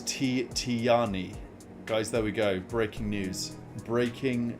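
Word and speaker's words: Tijjani: So, it is Oh, it's Tani, guys. There we go. Breaking news. Breaking news from AlPLHQ. Ladies and gentlemen, breaking news. You pronounce his first name Tani.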